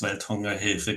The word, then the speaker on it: Welthungerhilfe: And yes, you pronounce it very well. It's Welthungerhilfe.